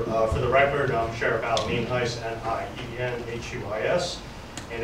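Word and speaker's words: Nienhuis: For the record, I'm Sheriff Evelyn Heiss, N-I-E-N-H-U-I-S, and it's pronounced Heiss.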